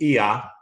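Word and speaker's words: Oia: I was in Santorini, up on the top of the hill in Ia, which is spelled O-I-A.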